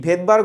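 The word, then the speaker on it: Svedberg: শব্দটি ভেদবার্গ হলেও, মানে উচ্চারণটি ভেদবার্গ হলেও শুরুতে থাকে এস।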